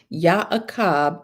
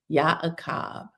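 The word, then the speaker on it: Y'aqab: Yakab is spelled Y Apostrophe A Q A B and that is the correct ancient PaleoHebrew spelling. Yakab.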